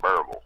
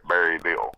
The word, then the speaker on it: Berryville: Everybody Everybody down here pronounces it Baraboo. Uh-huh. You know, not Berryville.